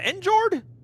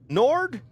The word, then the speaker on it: Njord: Njord? Nord? Nord. Jord? Nord. Nord? Is it okay? I think there's like a proper pronunciation. I think it's Njord, but like Nord.